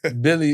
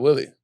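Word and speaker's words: Willy: With Billy Hernan Gomez, because Billy, it was spelled W-I-L-L-Y. We call him Billy. It's not Willie.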